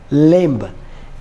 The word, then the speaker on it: limb: here ninth word is limb l i m b again be silent here and we should call this lim tenth and the last